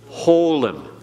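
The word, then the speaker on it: holam: Holum. Holum is an O sound.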